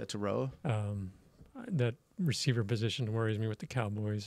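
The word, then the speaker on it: Tetairoa: wide receiver out of Arizona and I can't pronounce his name taroa yeah Teta say it again taroa taroa um that receiver position worries me with the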